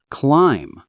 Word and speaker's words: climb: Climb. W is silent.